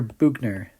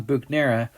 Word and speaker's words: Buchner: bhugnero is named after buchner that's why we know the right way to say his name is german inside of those bacteria